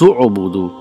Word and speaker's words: اعبدوا: So how do we read? Ya ayyuhannas u'budu. So we don't pronounce the sound of hamzatul wasal.